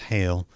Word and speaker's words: Heil: It's pronounced Heil, .com.